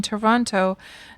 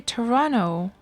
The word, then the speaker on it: Toronto: you moved to norway you started pronouncing the second t in toronto now you get made fun of for that when you visit your family oh so do people say toronto all right toronto toronto i can imagine